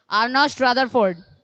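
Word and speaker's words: Ernest Rutherford: Nawabganj, আর্নেস্ট রাদারফোর্ড। বেশ, বসে পড়ো। মেদিনীপুর, এই বিজ্ঞানীর নাম? আর্নেস্ট রাদারফোর্ড। আচ্ছা, তাহলে সবাই মোটামুটি ঠিক বলেছো। উনি আবিষ্কার করছেন প্রোটন, নাম আর্নস্ট রাদারফোর্ড, উচ্চারণটা আর্নস্ট রাদারফোর্ড।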